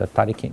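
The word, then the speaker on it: 他力: In Japanese is pronounced Tariki, mean Tali.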